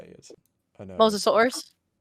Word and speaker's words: Mosasaurus: Mosasaurus. It's in the podcast. Oh, Mosasaurus. Mosasaurus. Yeah, that's a Mosasaurus. Yes. I used to call it the Mimosasaurus.